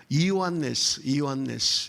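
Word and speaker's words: Ἰωάννης: 여러분, 그 요한이라는 이름의 헬라식 발음은 우리와 같은 요한이 아니에요. 이오안네스, 이게 헬라식 이름이고요.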